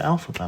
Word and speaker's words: Elphaba: to please as well how do I pronounce my name name uh I'm called alpab my darling i e l